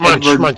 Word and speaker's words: Edvard Munch: Munch. Sorry, you pronounce it Munch?